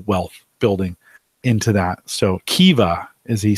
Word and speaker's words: Kiva: So Kiva, as he says how it's pronounced.